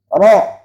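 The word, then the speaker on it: ر: Jadi jangan sampai mengatakan ro ini walaupun harkat fathah jadi ra, jangan.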